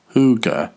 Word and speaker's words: hygge: Hygge, pronounced hoo-ga, is Danish for cozy, warm, or homey.